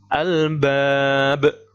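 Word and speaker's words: الألباب: Berarti bacanya albab. Al-bab, memantulkan, mantul, ya, kubro, besar, di akhir kalimat.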